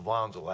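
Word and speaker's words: Wanzl: Building number three is Wanzel is pronounced Vanzel actually German company.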